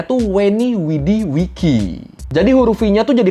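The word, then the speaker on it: Veni, Vidi, Vici: The V in Latin is pronounced like a W sound.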